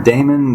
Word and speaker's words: daemon: Is it demon or daemon? They spell it D-A-E-M-O-N, but I think it's just ancient Greek way of spelling demon. So, should I say daemon or demon? I like to say demon because, normally I say